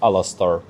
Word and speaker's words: Alastor: What the spirit represents, they told me the right pronunciation. Okay, it's just name from Harry one of Harry Potter character and there was Alastor Aha.